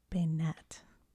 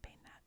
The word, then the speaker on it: Banette: How to say it? Bayonet. Bayonet. The emphasis is on net. Bayonet.